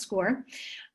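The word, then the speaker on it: Scoir: said which replaced naviance i know it's spelled weird but it's actually pronounced score um let me go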